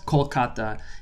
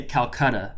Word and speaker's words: Kolkata: let's get started now this is called Kolkata it has been called Kolkata since 2001 when the government of West Bengal the government of the city decided to rename it based on the Bangla pronunciation of the word the previous few centuries the city was called Calcutta and it continues to be called Calcutta in the Western world despite the very miniscule amount of difference in the actual pronunciation for ease of listening